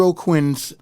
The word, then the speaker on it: Aucoin: and check out o'quinn's time up on stage with Bruce Springsteen and you spell his name his last name is a-u-c-o-i-n and it's pronounced O'Quinn and uh just type